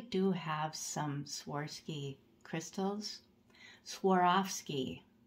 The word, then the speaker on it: Swarovski: have some Swarovski Crystals Swarovski that's how you're supposed to pronounce it sorry I'm a little